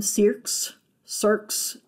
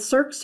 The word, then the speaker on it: cirque: Some people pronounce them cirques. Either way, it's fine. But cirques are the bowl-shaped depressions at the heads of valley glaciers where the original ice developed.